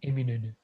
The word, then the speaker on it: Eminönü: Most of my, the non-Turkish friends, I remember they cannot pronounce it. Eminönü.